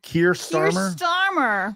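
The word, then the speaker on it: Keir Starmer: Kier Starmer.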